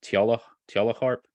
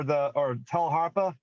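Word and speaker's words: tagelharpa: You've got your YouTube channel, and you play, and I think it's pronounced tjala harp. Toggle harp.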